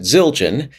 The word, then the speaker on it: Zildjian: So I actually got in touch with Eric Gross, who works at Zildjian. And he talked to a classical percussion specialist there, who confirmed that it is pronounced crotale.